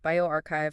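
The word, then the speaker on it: bioRxiv: A lot of these sources, especially the ones from Borc's pronounced bioarchchive, folks, they're preprints, meaning they haven't necessarily gone through the full peerreview gauntlet yet.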